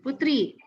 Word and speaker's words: poetri: Nah, silakan Anda lihat kami poetra dan poetri, tentu saja dibacanya putra dan putri.